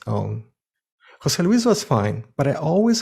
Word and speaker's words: José Luis: first name that is pronounced as a single word emphasizing the accent on the second name names like jose luis or maria elena are pronounced jose luis and marielena in the